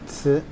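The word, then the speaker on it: 瓷: On the top, you have a character that is pronounced ci.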